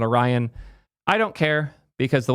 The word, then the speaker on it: Orion: Orion browser.